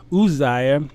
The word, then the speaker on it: Uzziah: year king isaiah died it's actually the name would be pronounced uzai uzziah died okay he served jotham